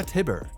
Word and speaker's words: Tybur: had distinct features such as neater hair and pronounced cheekbones mirroring his human form. Number 6. Lara Tibur. Lara Tibur, an Eldian noble of Marley, held the power of the Warhammer Titan.